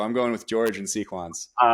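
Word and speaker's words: Sequans: calls himself George and he says it's sequins." So, I'm going with George and Sequins.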